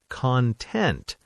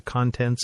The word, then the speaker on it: content: As an adjective, content, but as a noun, like YouTube content or the contents of a bag. Content. Completely different stress.